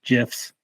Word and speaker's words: GIF: And obviously, it's a great place to make some custom GIFs. Okay. Hard G.